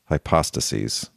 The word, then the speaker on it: hypostases: be singular also, and then in the plural, it would be hypostases. So when you make the word plural, you have to move the accent over to the second to last syllable.